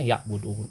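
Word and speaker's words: يعبدون: Jadi wa ma khalaqtul jinna wal insa illa liya'buduni. Tertulisnya seperti itu. Di waqaf jadi bacanya ya'budun.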